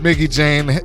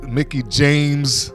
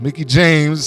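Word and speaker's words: Mickie James: in any case it's been a while since Mickey Jane Mickey James let me say her name right it says Mickey James has been in a wrestling ring and she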